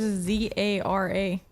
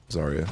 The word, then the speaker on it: Zarya: a y r a I thought it was z a r a Zara no no it's zarya it's got a y in there somewhere I have no idea